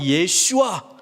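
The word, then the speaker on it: ישוע: 히브리어 발음으로는 예슈아.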